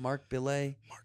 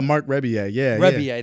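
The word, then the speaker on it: Rebillet: Mark Belay. Oh, Mark Rebier. That's what it is. Dude, he's amazing. Anybody he's that's brilliant. Listening, go listen to Mark Rebier. I said his name wrong because I didn't remember it.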